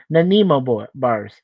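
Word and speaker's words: Nanaimo bars: Nimo thank you hone yeah Suzanne corrected me Nimo bars and she was a good cook back then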